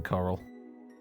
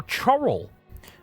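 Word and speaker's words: Chorrol: we'll finally bugger off to Wayne Priory in Coral for the main quest, or Chorrel, as I seem to recall I originally pronounced it when I first played this game in 2006.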